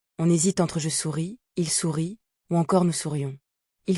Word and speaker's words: sourit: Au présent, on écrit "Je souris", "Tu souris", il sourit. Au pluriel, on écrit "Nous sourions vous souriez, il sourit". Attention, le thé de le sourit ne se prononce pas mais il s'écrit.